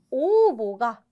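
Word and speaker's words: 応募: 자, B번, 샤인 보슈 시대모, 사원 모집을 해도 오보가, 응모가 오보라고 발음합니다. 오보.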